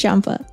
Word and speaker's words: Champa: a twin brother Champa is it Champa or Kaa wait no the Japanese do have cha so it is Champa don't they pronounce champagne